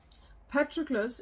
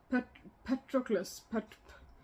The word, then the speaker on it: Patroclus: Let's see if I can say this, because I'm trying to say a Greek name with an English accent, or like an English pronunciation. But if I was just doing like a Greek name with my own pronunciation, Patroclus.